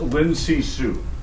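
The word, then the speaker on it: Lin Zexu: Name is Lin Sisu. It's spelled Zexu.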